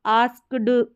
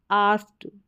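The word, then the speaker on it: asked: टू ही आस्क what इसको आस्क ड करके ना प्रोनाउंस करें आस्ड यानी यहां पर के हल्का सा साइलेंट हो जाएगा ही आस्क व्हाट इज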